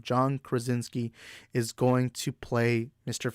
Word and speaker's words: Krasinski: major but as of now i think john kronz is key why do i keep mispronouncing his name john krasinski is going to play mr fantastic for this